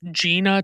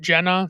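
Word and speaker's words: Gena: I had to look it up because it's spelled G E N A, which screams Gina to me, but everyone pronounces it Jenna.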